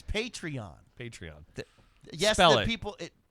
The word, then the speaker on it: Patreon: will buy the foress I'll spent $600 the patron the patron program is a crowdfund I mean it's essentially crowdfunding so it's kind of irking me that you keep mispronouncing it's patreon patreon yes the people it p p a